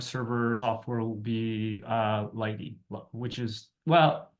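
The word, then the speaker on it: lighttpd: top the web server software will be uh Lighty which is well it's it looks like it's spelled light httpd but it's a generally speaking it's pronounced Lighty and um for the key exchange we'll be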